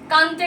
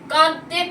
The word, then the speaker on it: কাঁদতে: আচ্ছা, এবার কিছু শব্দ হচ্ছে কানতে কানতে, হবে না, কাঁদতে কাঁদতে, রানতে রানতে নয়, রাঁধতে রাঁধতে, বাঁধতে বাঁধতে। এই কানতে কানতে, রানতে রানতে, বাঁধতে বাঁধতে, এই শব্দগুলো একদম ভুল উচ্চারণের ক্ষেত্রে। ওগুলো কি হবে? কাঁদতে কাঁদতে, রাঁধতে রাঁধতে, বাঁধতে বাঁধতে, চন্দ্রবিন্দু আছে প্রত্যেকটা।